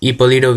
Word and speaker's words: Hipólito: Anyway, and his last son was Hipólito Villa, because this guy, he was just I don't know, the H is silent.